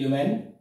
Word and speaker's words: illumine: Question number 5 says that, yes, electric light, okay, Illumen, mark the spelling is Illumine, but pronunciation will be Illumen.